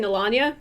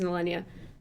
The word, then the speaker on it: Melania: i'm sorry melania um i've been saying melania and which is not correct it is millennia um yeah finn stares